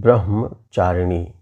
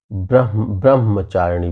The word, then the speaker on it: ब्रह्मचारिणी: शब्द आया हुआ है ब्रह्मचारिणी जिसको ब्रह्म चारणी में कह रहा हूं तो यह जो हा है और आधा मा है तो इसको पहले ह का उच्चारण होना चाहिए और उसके बाद मा का लेकिन बहुत से लोग